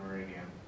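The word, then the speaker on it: Gureghian: And I don't know how to pronounce his name. I believe it's Gurigian. Gurigian.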